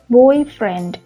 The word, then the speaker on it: boyfriend: Với những danh từ ghép mà từ hai từ ghép lại thì dấu nhấn nó sẽ rơi vào bên tay trái, cho nên các bạn sẽ đọc là blackboard, blackboard, boyfriend. Nhưng khi các bạn đọc là blackboard hoặc là boyfriend thì khi đó các bạn không có đọc một compound word mà các bạn đọc một phrase, một noun phrase.